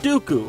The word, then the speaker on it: Dooku: the white and the rhymes with poopoo count dooku from the worst star